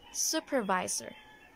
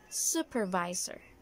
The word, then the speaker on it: supervisor: So, I actually heard someone say this supervisor, like supervisor, and I was wondering why. It's actually supervisor, supervisor.